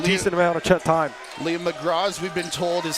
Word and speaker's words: McGraw: Liam McGraw, we've been told, is how you pronounce that last name.